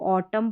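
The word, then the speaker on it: autumn: इसको ऑटम पढ़ना है। ऑटम म न नहीं कॉलम पढ़ा, सोलम पढ़ा, डैम पढ़ा।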